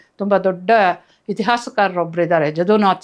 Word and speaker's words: ಜದುನಾಥ್: ದೊಡ್ಡ ಇತಿಹಾಸಕಾರರ ಒಬ್ಬರು ಇದ್ದಾರೆ ಜದುನಾಥ್ ಸರ್ಕಾರ್ ಅಂತ ಯದುನಾಥ ಯದುನಾಥನೇ ಅಲ್ಲಿ ಜದುನಾಥ ಯಾನಜ ಅಂತ ಅವರು ಉಚ್ಚಾರ ಮಾಡ್ತಾರೆ ಜದು ಯದು ಅಂತ ಆತನ